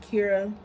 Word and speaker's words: Chara: is greek for joy it's spelled like chara but it's pronounced kira and it is the